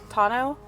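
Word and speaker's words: tonneau: it how do you say it is it tuno Tano yep Tano that thing's pretty strong right uh I've seen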